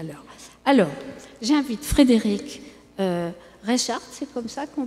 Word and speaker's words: Reichhart: Alors, j'invite Frédéric Reichardt, c'est comme ça qu'on prononce votre nom, donc, et sociologue, maître de conférences.